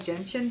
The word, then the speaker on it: gentian: say it right but i think it's called gentian blue g-e-n-t-i-a-n so and i was like oh